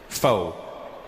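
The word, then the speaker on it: pho: big deal in America it's spelled p-h-o foe but it's not the way it's pronounced and in America people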